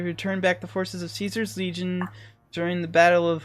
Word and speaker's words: Caesar: is how they pronounce Caesar. And since I don't respect them, I'm saying it's Caesar, not Kaiser.